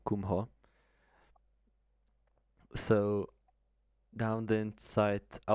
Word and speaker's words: Kumho: Then into Kumho. Not Kumbbo Kumho.